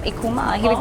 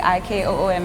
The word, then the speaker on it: Ikuma: And so I was like, okay, it sounds like Ikooma, and that's how the name came Wow.